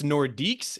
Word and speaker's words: Nordiques: So the Quebec, I believe it's Nordiques. It looks like Nordics, but okay, Nordiques.